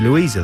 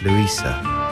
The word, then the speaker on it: Luisa: doesn't it because because people must just call you louisa the whole time yeah and then you have to say no it's luisa and then they look